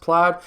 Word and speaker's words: Plaid: thought that the title i would be saying played it's actually pronounced plaid and of course a lot of people are